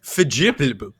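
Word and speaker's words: fierljeppen: Canal jumping is Holland's oldest sport, and in Dutch, it's pronounced verjibbel.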